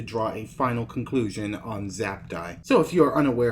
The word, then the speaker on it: Zaptie: every other commentator outro he prefers his name is pronounced zaptie instead of xacti if he is no